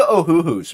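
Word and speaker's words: Ohuhu: go uh looking to ohooo man uh they're fairly cheap and affordable and they they're comparable to yeah yeah they're comparable to Copic yeah it's spelled exactly how it sounds o h u hu oh yeah they're very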